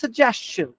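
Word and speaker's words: suggestion: লাস্টে একটু চ এর মতো আসবে, সাজেশন, সাজেশন চন না চান, সাজেশন, সাজেশন সাজেশন, সাজেস্ট নামে একটা বেটা আছে, ওকে চান, সাজেশন।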